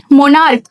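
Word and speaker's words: monarch: For example मोनार्क मोनार्क मतलब सम्राट सुने होंगे आप। मोनार्क में लास्ट में हम एस लगाएंगे। क्यों? क्योंकि सीएच का प्रोनाउंसिएशन हम क से कर रहे हैं।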